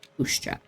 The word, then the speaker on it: puszcza: Puszcza. Puszcza. Okay, Puszcza is how you say it, roughly.